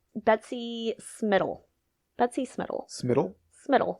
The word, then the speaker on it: Smittle: do her name Betsy smittle Betsy smittle smittle smittle spell that for me please like Skittle but with an M okay that's a great